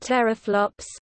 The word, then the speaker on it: teraflops: 10-12 flops, pronounced teraflops, or peta, combined into the shorthand PFLOPS.